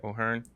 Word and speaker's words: O'Hearn: Did I pronounce that right? O'Hearn?